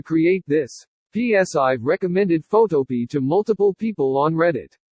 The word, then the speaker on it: Photopea: with photo or like photo P I pronounce it like a vegetable P or like black-eyed peas smiley face I'm sure